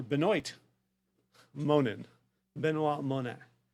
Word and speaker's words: Benoit: oh I T so if you are phonetic you'll want to look for Binoy moanin been a la